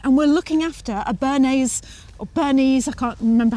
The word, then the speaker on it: Bernese: Which is a bit of a problem because we're house sitting and we're looking after a Bernese Bernese, I can't remember how you pronounce it.